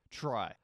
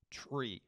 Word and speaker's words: trie: lead code question Implement try and yes this word that you see right here is actually pronounced try most people don't care